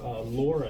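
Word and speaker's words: LoRa: So Laura, it's kind of a funny acronym. It stands for long range long brain. Not even kidding. And it's spelled like this with the L and the R.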